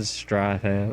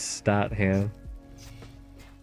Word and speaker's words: Statham: No, I said Strat. I said Stratham. I said Stratum. It's Statham.